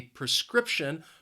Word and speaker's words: prescription: prescription from the doctor the word has three syllables and the stress is on that second syllable prescription prescription I think the word is a little confusing because of that PR e it's not a pre sound it's more of a prick prick prescription Oh need